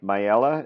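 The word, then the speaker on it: Myela: song on the new album it's called my my Ella is that how you pronounce it exactly and it's it touches on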